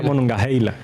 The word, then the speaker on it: Monongahela: Se escribe Monongahela, una H entre la A y la E, pero se pronuncia Monongahela.